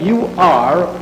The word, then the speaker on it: Ur: It is spelled U-R, Ur, and Chaldea is spelled C-H-A-L-D-E-A.